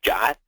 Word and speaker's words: JWT: a Json web token or called JWT which we pronounce jot so I get a